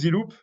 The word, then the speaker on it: ZeLoop: And as you have noticed, I'm French, and French have problems to pronounce D. They will, it doesn't exist exactly the D, the English D, you know, we have to put the tongue on the top. So we will most French will pronounce it Z or Z. So the ZZE. So we say, okay, we close the loop. So we turned that to ZeLoop, and the name was